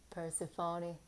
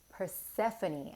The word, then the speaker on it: Persephone: these cards there we go hmm New Beginnings Persephone New Beginnings I'm going to read from that